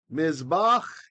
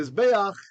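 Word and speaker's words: מִזְבֵּחַ: So you shall make or do mizbach. Pardon me, mizbei'ach miktar ketoret. I accidentally read mizbei'ach as if it was in construct, right?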